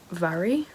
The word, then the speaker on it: Mhairi: I just looked in the book and it says that her name is pronounced Vary.